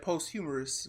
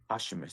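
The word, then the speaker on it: posthumous: never knew how to I don't say the R I said post humorous one time and they're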